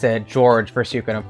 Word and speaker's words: Georg: I just call him George because that's how it's pronounced in the English version of Suikoden 5, so I think most fans are familiar with George instead of Georg. But in my heart, it's Georg.